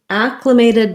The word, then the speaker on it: acclimated: on the first syllable acclimated does have first syllable stress and so we actually say the a black cat sound on that word um first syllable stress so acclimated this letter i is going to sound more like a schwa sound or maybe an if sound and then we have a true a vowel unmated with secondary stress so this t is going to sound like a flap um so we'll